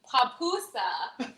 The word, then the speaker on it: pupusa: be doing a back-to-back papoosa how do you spell that it's pupusa actually and it's p-u-p-u-s-a okay um that's a word that you know everybody gets wrong but it's okay you